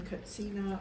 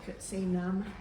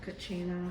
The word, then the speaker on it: katsina: the glass yeah and we use the term cutsena or katsina instead of Kachina or kachinadas there's it's cut Cena is closer to the Hopi pronunciation for these figures okay okay so that's